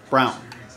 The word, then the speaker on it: Braun: Jalen Duren and Christian Braun. Brown. That's how he pronounces it.